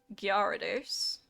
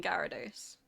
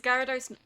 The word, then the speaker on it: Gyarados: I guess some people might look at it and go Gyarados and try and pronounce the Y, but for me it's always been Gyarados.